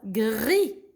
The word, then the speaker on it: gris: ce pas gras gras gris gris le s il est meilleur jeu là prononcent pas gries et la couleur gris